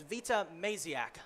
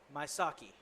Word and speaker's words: Maziak: I just realized I was pronouncing her name wrong this whole time. It's Vita Maziak. I was referring to her as Maisaki.